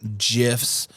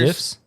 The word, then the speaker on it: GIF: The creator says GIFs, but they're spelled like GIFs, GIFs. like because it's GIF. So everybody gets mad when you say GIFs, but the guy that created them called them GIFs, like a J, but it's spelled with a G.